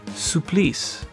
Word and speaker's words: Supplice: two oh and in case anyone is wondering supplies yes it is pronounced that way is a French word that